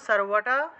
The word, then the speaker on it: সর্ব: ইয়া দেবী সর্বভূতেষু, সর্বটা, আচ্ছা আমি এখানে একটু ভেঙে লিখে দিই। সর্বটা কিভাবে হবে, সার ওয়া, সর্ব, এটা বুঝতে পারবেন তো আপনারা। সর্ব এইভাবে উচ্চারণটা হবে।